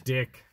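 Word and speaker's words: Dyck: His last name's Dick. Yeah, D-Y-C-K. So you can actually pronounce it Dick or Dyke.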